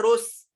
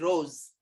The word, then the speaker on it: rose: Next, rose, do we say rose sir, ending with s, and the sound is what, rose, rose, it's not rose, it is rose, rose, sound is z, why, there is a rule, I'll show you.